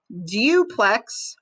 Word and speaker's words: duplex: And here we have plex, duplex, or duplex. Duplex is usually the correct pronunciation there, duplex, so using the oo sound.